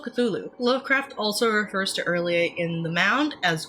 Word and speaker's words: R'lyeh: Lovecraft also refers to R’lyeh in The Mound as Relex. Its possible names are Relex, Ryche, Ryah, and Arlyeh. R’lyeh is the way I pronounce it because its an alien fictional language and I cant force